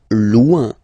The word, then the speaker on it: loin: Loin, loin. So remember, when you get this combination O-I-N, it's ouin, ouin, ouin, okay?